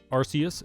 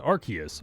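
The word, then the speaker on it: Arceus: end the debate here arus and archus are both perfectly valid pronunciations this is a tomato tomato situation real life words have differences in pronunciation depending on various factors we will never agree on it so stop arguing about it and just accept both pronunciations but the rks system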